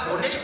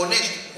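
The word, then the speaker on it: honest: यह सुनकर शंभू बोला होनेस्ट नहीं ऑनेस्ट, ऑनर नहीं ऑनर, इसमें एस साइलेंट आता है।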